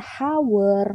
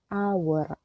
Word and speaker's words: hour: jam ya satu jam cara bacanya ini bukan hower melainkan aware aaq1a bukan pakai ee